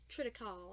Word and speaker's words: triticale: Okay, so since I have celiac disease, I can't eat wheat, malt, barley, rye, brewer's yeast, or triticale. I don't know how to pronounce that.